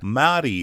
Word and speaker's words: Meri: M-E-R-I is how it's spelled, Mari is how it's pronounced, and Mari is a band from Lviv, Ukraine, with a big hit on its hands.